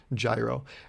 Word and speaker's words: gyro: how to say it he's like it's gyro and that's when i remembered it first because i embarrassed myself and then second because i was like oh it's like gyroscope and i don't think